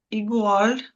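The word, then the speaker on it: igual: Тобто от ігуаль у нас читається так і перед у, і перед о читається як ґ.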